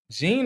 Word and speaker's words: Jean: Is it pronounced Jean or? Jean. Okay, Jean. So you know what? I should have known that. The only people whose names are pronounced when it's spelled that way are usually Haitian. Like Haitians have it's spelled that way, but it's pronounced like Jean, because obviously the kind of French exactly origin.